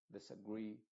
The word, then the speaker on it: disagree: sino que es una una I modificada que es como una e una e nuestra pero esta e Tampoco puede ser des advantage no puede ser una e muy clara tiene que ser una e muy muy oscura que no se note tanto como e pero que se parezca más una i pero que tampoco sea una I Esa es la idea